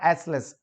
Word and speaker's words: aisles: because the aisles या एसलेस, इसका pronunciation ध्यान रखना, आइल्स भी कह सकते हैं, आइल्स या एसलेस, दोनों ही सही है, एक अमेरिकन इंग्लिश के हिसाब से, एक ब्रिटिश इंग्लिश के हिसाब से।